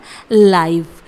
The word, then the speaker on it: live: चलिए, अब हम बात करते हैं LIVE इस दूसरे वर्ड की, जिसे हम प्रोनाउंस करते हैं लाइव, जो कि लिव वर्ब से काफ़ी अलग होता है।